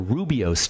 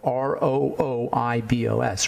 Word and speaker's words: rooibos: There's a really interesting tea called redbush tea or rubios tea. That's spelled R-O-O-I-B-O-S, rubios tea or rooibos tea.